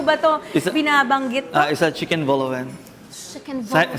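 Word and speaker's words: vol-au-vent: Is chicken voloven. Chicken vol. Silent letter T.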